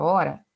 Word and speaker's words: hora: observe a palavra hora na palavra hora e observo aqui que eu tenho quatro letras também o h u a u r a só que na hora de pronunciar eu pronuncio sem o som do H ou H é uma letra que que não tem som então eu tenho quatro